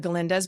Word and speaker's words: Galinda: being one of the galindas but other galindas who were very um with a g with a g with a G the g is silent um very over-the-top comedic